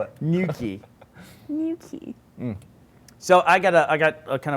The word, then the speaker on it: Newquay: Do you know how to spell it? Newquay. New key.